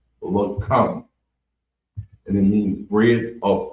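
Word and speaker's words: לחם: So the next word is bread of food, and it's pronounced lakam, and it's spelled LACHAAM, lakam, and it means bread of food.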